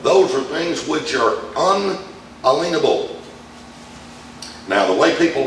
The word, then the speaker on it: unalienable: won't think of those are things which are unalienable now the way people like to pronounce that word is inalienable but that's not the way it's pronounced that's